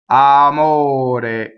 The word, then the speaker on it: amore: All I have to do to make double M is hold my lips together while I phonate. Amore, double M. Not desirable in this word. Amore, amore. To get rid of double M, I don't allow my lips to hum for even a second, right?